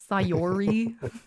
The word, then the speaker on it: Sayori: How do you pronounce it? Sayori. Sayori and Natsuki.